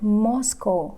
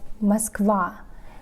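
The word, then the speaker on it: Москва: so the opening lyric for the song as they followed them i like that he pronounced it not moscow or moscow but muskwa which is correct mine wrote the song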